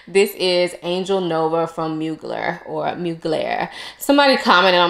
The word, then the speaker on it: Mugler: So obviously the French way, I can't really say, but I've heard it pronounced Mugler and Mugler as far as the Americanized way to pronounce it. So I'm going to go with Mugler.